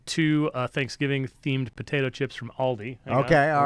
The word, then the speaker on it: Aldi: It's an Aldi.